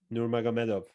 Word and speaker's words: Nurmagomedov: Nate Diaz, Khabib Nurmagomedov. There we go. The latter, right? When he was being defeated by Khabib, right? Say his surname. Nurmagomedov.